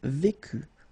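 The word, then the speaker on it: vous: only one form here and it's Vu for all these three persons final s not pronounced same thing here so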